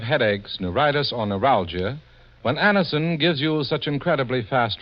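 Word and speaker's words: Anacin: It's so unnecessary to suffer from the pain of headaches, neuritis, or neuralgia when Anison gives you such incredibly fast relief.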